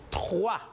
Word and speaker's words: trois: Alors, le OI se prononce comme roi en français. Por lo tanto, yo prononcio boire. Et je prononce aussi trois. On a OU.